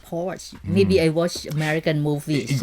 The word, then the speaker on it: Porsche: r CH d and a lot of Americans wrongly pronounced at Porsche it's actually Porsche oh sure sure I thought this was pronounced pores maybe i watch American